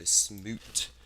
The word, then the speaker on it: Smoot: Like smoke, but it's Smoot.